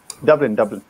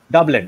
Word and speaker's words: Dublin: How do you pronounce that, Saadi? Dublin. Dublin.